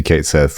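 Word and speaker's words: Cait Sith: represented when you see Kate Seth or uh cat she as as I think the proper pronunciation see yeah yeah oh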